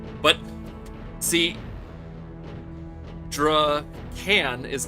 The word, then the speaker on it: Drakan: Well, tonight I am going to play a game from 1999 called Drakan. That's how I pronounce it. It's probably Draken, like dragon.